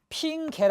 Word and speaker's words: 핑계: 예컨대 여러분 핑계를 보겠습니다 핀 개의 발음은 요 p 인 개가 원칙이나 핑게 라고 발음할 수도 있습니다 다리미 두개가 다 받는